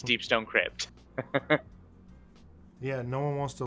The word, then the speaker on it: Deepstone Crypt: third suppressor deep cck deep Stone CP cck yeah I mispronounced that horribly but yes deepstone Crypt yeah no one wants